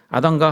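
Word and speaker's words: אדמה: 땅을 갈게 하시니라 여러분 아담과 하와 의 근원이 무엇이었습니까 하나님이 무엇으로 아담을 지으셨습니다 까 제어 땅 즉 흙으로 지으셨습니다 여러분 흙 은 히브리어로 어떻게 발음하는 지 아십니까 극은 아담 이라고 발음합니다 아담이 흑 입니다 즉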